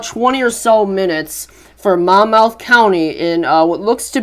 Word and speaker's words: Monmouth: Roseville or 14 miles south of Mon Mon Mon mouth yep that's how you say it moving northeast